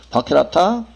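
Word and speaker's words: VARCHAR: VAR과 VAR2 이런 거는 그 VAR, VAR 캐릭터, 바캐릭터, 바캐릭터라고 읽는데 바캐릭터, 바캐릭터2.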